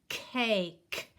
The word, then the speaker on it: cake: So this is the word cake. And remember, the E is silent.